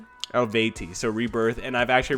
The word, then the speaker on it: Eluveitie: I actually checked up on Google how to pronounce it. ELUVEITIE. ELUVEITIE.